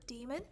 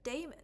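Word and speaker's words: daemon: this word d or demon turns out it's almost like a 50/50 split between both how to pronounce dock Damon like half of the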